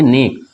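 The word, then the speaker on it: know: एंड के इसको पढ़ेंगे ने उसी तरह ये है के एन ओ व ठीक है इसमें के साइलेंट हो जाएगा और इसको हम करेंगे नो क्या पढ़ेंगे नो ठीक है ना यहां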